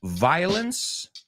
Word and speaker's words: violence: Listen to the difference. I don't like violence. I love violins. Otra vez. I don't like violence. La O no la pronuncio. Violence. I do like violins. O sea, la O se pronuncia, hay diferentes tres y no es el mismo.